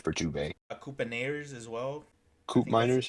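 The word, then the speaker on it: Koopmeiners: Dubet Coupeers as well Coupe Miners. Yes, Coop Miners. Sorry, that's how you pronounce the name.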